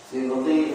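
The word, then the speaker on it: سبط: Sibti itu artinya cucunya Nabi sallallahu alaihi wasallam. Bacanya sibti dengan mengkasrahkan huruf sin. Karena dia menjadi badal bagi Al-Hasan.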